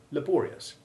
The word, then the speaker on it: laborious: components are sounded separately note also how the stress moves from the first to the second syllable with the result the long a1 of labor becomes the unstressed short a2 iv sound in laborious and the newly stressed second syllable changes to long o1 it's the same change